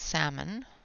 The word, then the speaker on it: salmon: Could never pronounce that properly. You know, I've always been told it's salmon, but I've always had that conflict of, but that's not the way it's spelled.